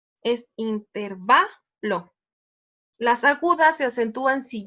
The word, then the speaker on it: intervalo: esdrújulas llevan acento entonces si se se pronunciara intervalo debería llevar su acento y no lo lleva si lo buscamos en el diccionario donde lleva no es intervalo es intervalo las agudas se acentúan